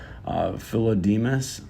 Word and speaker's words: Philodemus: One of the philosophers found in it was Philodemus. I believe that's how you say his name.